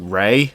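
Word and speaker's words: Lei: to the left is called lay like l-e-i but they pronounce it as like Ray I'm like but I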